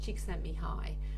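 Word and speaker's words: Csikszentmihalyi: easy to remember but his surname was chick sent me high which is spelled c-s-i-k-s-z-s-z-e-n-t-m-i-h-a-l-y-i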